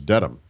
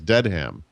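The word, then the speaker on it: Dedham: the word Dam but she said it as deadham and so I raised my hand and I said excuse me uh actually and this was in Albuquerque New Mexico she said I said uh actually it's pronounced Dam not deadham and what did she say she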